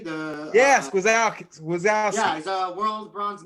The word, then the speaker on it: Gwiazdowski: Gwiazdowski. Gwiazdowski, the yes, Gwiazdowski.